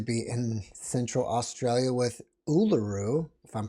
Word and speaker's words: Uluru: She grew up in the deserts of Central Australia, and now she is what appears to be in Central Australia with Uluru, if I'm pronouncing that correctly, in the Yes.